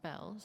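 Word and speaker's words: Beall: Although it's written Beale, it's pronounced Bells.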